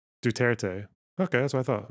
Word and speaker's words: Duterte: wacky dude though see if I can uh pronounce duterte okay that's what I thought okay we favor